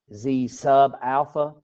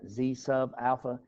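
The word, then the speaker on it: zα: uh notation zalpha is pronounced Z sub Alpha because it's a subscript right Z sub Alpha and that is talking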